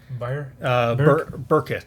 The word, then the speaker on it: Byrkit: How would you pronounce that? Byrkit.